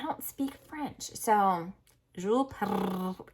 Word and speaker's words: Perrault: So Jules Perrault, gotta get this R on, Perrault, was a well-known ballet teacher and choreographer.